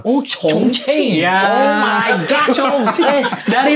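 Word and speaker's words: Chongqing: Tulisannya cing ya. Iya. C h o n g i n g. Tapi baca bacanya apa? Ba concing gitu. Oh concing.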